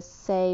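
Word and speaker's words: sei: twin flames the south sea mothers the number seven was on the list of the whales the sea whale the say well it's actually pronounced and the number nine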